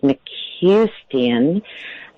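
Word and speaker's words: McCuistion: And we should really give a shout out to Lolita Ritmanis and Michael, I think his last name is pronounced McCustian, Christopher Carter.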